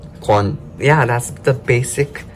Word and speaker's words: 관: And then g sound, wo sound, and 관, kwon.